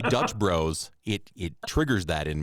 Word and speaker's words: Dutch Bros: it down sorry yeah I got rued reded Dutch Bros Dutch Bros sounds better when you say it Dutch Bros for the ruy oh absolutely Bros and ruies